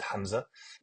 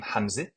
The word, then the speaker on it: Hamza: going to come out, and I say Hamza, Z, whereas in Fusha, you would say Hamza, Hamza.